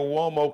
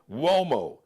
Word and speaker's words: Uomo: Check out his Mario Uomo collection and Flyball collection. Just search on IG or Instagram, Mario Uomo. Now, Uomo is pronounced like with a W, but it's an Italian word.